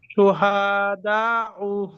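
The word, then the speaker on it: شهداء: আইলান হ্যাঁ, জাযাআন, জাযাআন উলাইকা উলাইকা শুহাদাউ। রাসু শুহাদা বলেন। শুহাদাউ হ্যাঁ, বানান করেন তো এটা দেখি।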